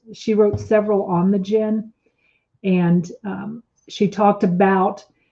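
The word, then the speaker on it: djinn: masses they call them gins and it's spelled d as in dog j-i-n-n but it's pronounced gin and marielle and guyley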